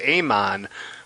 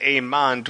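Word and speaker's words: Aemond: then his younger brother Aman but they pronounce it amand with a d so I think IMDb has it wrong it does they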